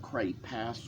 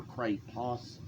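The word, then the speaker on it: Cray-Pas: brand name for it, and cray pass was the word, the pronunciation that my third grade art teacher used, and cray pos was the pronunciation that the clerk at the art store used.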